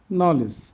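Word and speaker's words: knowledge: English ওয়ার্ডে এন এর আগে কে থাকলে কের উচ্চারণ সাইলেন্ট থাকে, অনুচ্চারিত থাকে। নি, not, NEET, no, night, knife, নলেজ। আমরা এবার অর্থগুলো শিখি।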